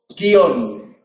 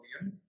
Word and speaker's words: guion: vale palabras del tipo guion palabras del tipo guion se pueden pronunciar en dos sílabas y si se pronuncian en dos sílabas entonces acaban en N y son agudas y habría que ponerle